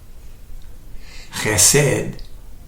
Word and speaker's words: chesed: Chesed, first syllable as a guttural sound, is the Hebrew word for God's loving kindness.